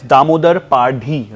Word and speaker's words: Damodar Padhi: Joining me today in conversation is Damodar Padhi, right? Am I pronunciation correctly?